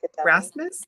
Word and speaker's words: Rasmus: See, I can't even pronounce his name without sounding like a dummy. Rasmus, right?